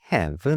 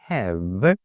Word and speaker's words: have: h 이렇게 발음해 주시는데요 발음해 주실 때 윗니를 아랫 입술에 살짝대 주시고요 이렇게 발음을 해 주시면 됩니다 그래서 I have I 이렇게 발음해 주시면